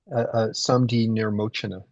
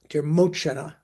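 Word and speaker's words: Saṃdhinirmocana: But mainly they rely on the Samdi Nimorchana, or pronounce it for me, Paul. Samdi Nirmochana. Nirmochana.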